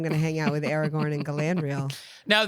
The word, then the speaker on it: Aragorn: And then we're also going to invite Aragorn, King Elisar of Gondor. Did I get the pronunciation on that right? Aragorn.